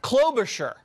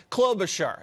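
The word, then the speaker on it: Klobuchar: globe clover shower clothes char clove the chadar clover sure I had too much shear on the char yeah too much shear okay clover sure that no one's gonna ever get that name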